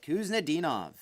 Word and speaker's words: Kuznetsov: Kuznetsov.